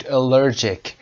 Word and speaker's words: allergic: تلفظ رو دقت داشته باشید. allergic. allergic. اگر allergic اینجا چون صفت هست. allergic reaction. allergy. I have an allergy. تلفظ allergy اینجا allergic. He's had an allergic reaction.